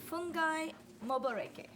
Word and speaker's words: Fungai Moboreke: We have Fungai Moboreke.